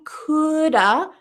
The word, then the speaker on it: could have: decided to study English I coulda Coulda similar style for your lips Shoulda Coulda I could have slept